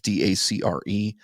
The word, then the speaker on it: Dacre: And so I've got, I don't know how to pronounce his first name. Is it Dacre Montgomery or something like that? It's Dacre Montgomery.